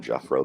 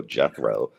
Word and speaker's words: Jethro: I don't call him Jeffro because he doesn't deserve to be called Jethro. Jethro.